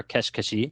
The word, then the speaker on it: Keshi Keshi: Today, we're going to be talking about a Dragon Quest puzzle game called Dragon Quest Keshi Keshi, or Kesh Keshi, as they pronounce it in the game.